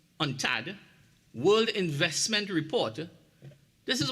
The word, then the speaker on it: UNCTAD: in 2021 a unctad which is you it's pronounced on Tad World investment report this